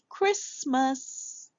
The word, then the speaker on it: Christmas: Chris the T is silent. We can hear it. And then we add M. Hear the schwa sound. Christmas.